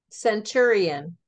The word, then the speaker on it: centurion: Spell it. It's okay. It's CENTURION. Centurion.